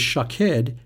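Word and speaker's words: שָׁקֵד: Almond is shakhed and watch is shokhed.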